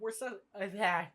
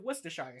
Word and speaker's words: Worcestershire: spilling a bit of worse no I know how to pronounce that word god damn it or maybe spilling a bit of Worcestershire sauce on it and